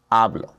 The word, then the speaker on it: hablo: So, for example, in the word hablo, a is the second to last vowel in that word. So, we have o, then we have a as the second to last vowel. So, the natural emphasis falls right there on that first a, hablo.